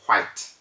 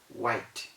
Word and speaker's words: white: white the color white a lot of people say white white white white is wrong you do not say that from your throat you don't need to blow out any air in order to say that just relax and let your lips do the talking white just in your mouth